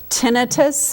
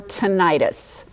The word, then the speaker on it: tinnitus: So first, out of the gate, tomato or tomato, tinnitus or tinnitus. Help us pronounce that word. So honestly, both are correct. In the professional world, most of us say tinnitus, and most lay people say tinnitus, but we will use